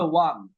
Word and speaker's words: won: উইনের উচ্চারণটা, উইনের পাস্ট ফর্মের উচ্চারণটা হবে ওয়ান।